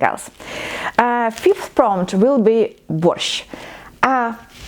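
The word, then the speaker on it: борщ: fifth prompt will be wash ah this four letters at the end of this word is actually one letter and one sound in Ukrainian so it's not worth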